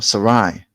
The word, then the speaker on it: Sarai: Now Abram became Abraham, who had Sarah or Sarai, but it's pronounced Sarah.